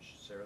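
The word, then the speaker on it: Sarit: And Sarah the usual way? it's actually S-A-R-I-T spelled. Sorry, say again. S? S-A-R-I-T. You pronounce it Sarah.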